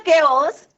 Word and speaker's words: chaos: इन द केओस and confusion, इसका pronunciation होता है केओस, CHAOS, chaos.